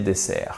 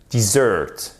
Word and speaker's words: dessert: Pour la quantité, j'ai mangé assez de dessert. I have had enough dessert. Et attention, c'est pas dessert, parce que dessert, avec l'accentuation sur la première syllabe, dessert, c'est le désert. Dessert, accentuation sur la seconde syllabe et en plus, ici